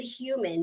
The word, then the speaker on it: Hyouman: And the company is called Good Human, but it's spelled HYOUMAN.